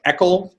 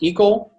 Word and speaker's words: Eckel: Tennessee alternate Jacob Dassinger to ask me to please pronounce Tennessee State and Delegation Chair Josh Eckel, not Eckel.